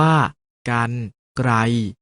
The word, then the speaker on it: กรรไกร: ออก เสียง อัน เช่น กรรไกร ออก เสียง ว่า การ ไกล จัด สรร ออก เสียง